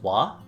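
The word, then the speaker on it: は: the hiragana for wo, similar to how the hiragana for ha is read and pronounced as wa, when we're talking about doing an action, wo is pronounced as o.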